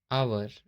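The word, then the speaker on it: hour: जैसे यहाँ एच है, ओ के पहले एच है तो इसको हम बोलेंगे ऑनेस्ट, आवर, इको। आई और जे कभी भी साइलेंट नहीं होते हैं।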